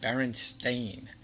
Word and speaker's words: Berenstain: right i'll admit that even now the correct pronunciation berenstain sounds crazy the thing is we're talking about